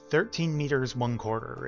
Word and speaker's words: 13m 1/4: I butchered the pronunciation on that. Let me. I think it was like 13 meters, 1/4. Yeah. 13 meters, 1/4 is how it's pronounced.